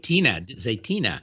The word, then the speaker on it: Zaytinya: Zaytina.